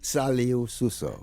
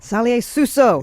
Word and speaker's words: Salieu Suso: We're talking to Sai Sooso. Am I pronouncing your name right? Can you say it for me? Saluso. Saluso.